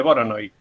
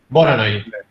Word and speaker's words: Voronoi: voy a quedar todo el tiempo diciendo la pronunciación incorrecta en el video y voy a quedar como pelotudo. No, diagrama de Voronoi. Voronoi.